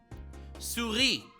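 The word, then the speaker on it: souris: how to pronounce this Suri wait a second an S at the end what why do you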